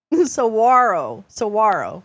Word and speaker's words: Saguaro: Saguaro.